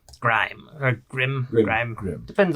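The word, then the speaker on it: Grihm: Grime or Grim. Grim. Grim. Depends on how you want to spell it.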